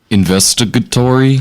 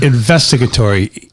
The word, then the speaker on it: investigatory: did you hear it investigatory investigatory equal every syllable is pronounced distinctly separately with the same emphasis i'm just pointing it